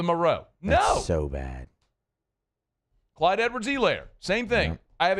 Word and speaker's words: Edwards-Helaire: yet it's still the Hilaire, Clyde Edwards-Helaire. No, Clyde Edwards-Helaire. That's it. Long E.